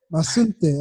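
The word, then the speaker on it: Mazunte: But yeah, speaking of like where you are now, sorry, I can't pronounce the name, but Masunte. Masunte.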